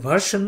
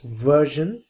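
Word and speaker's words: version: দিয়ে dash dash ভার্জন, ভার্জন অনেকে ভার্সন উচ্চারণ করে, রিয়াল উচ্চারণ ইজ ভার্জন।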